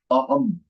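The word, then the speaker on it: अहम्: So in Sanskritam, the anuswar is pronounced as ma and not na. In some cases, na is okay, fine. But generally, it is pronounced as ma, aham, aham.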